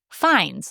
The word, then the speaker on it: Fiennes: He often tells people that his name rhymes with safe signs. Okay. Because people get it wrong so much. They call him Ralph, and he's not Ralph. Not Ralph. He's Rafe, Yeah. like safe, and fines, like signs.